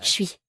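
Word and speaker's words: 水: Ce caractère se lit Chui.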